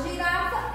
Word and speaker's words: girafa: Girafa, eu pronunciei o Rá com mais intensidade, olha só. Então, a sílaba tônica da palavra girafa é Rá.